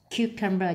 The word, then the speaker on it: cucumber: Selection nhấn âm 2, vegetable nhấn âm 1, display nhấn âm 2, spinach nhấn âm 1, cucumber nhấn âm 1, prepare nhấn âm 2,